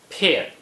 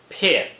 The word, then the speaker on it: 片: 片 is the fourth tone. Please pronounce it after me. 片片片 Here are some common